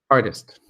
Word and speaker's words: artist: water, artist, think turtle, the T in the middle, we normally sound like a D. That's American pronunciation. It kind of sounds like this: artist, artist, right?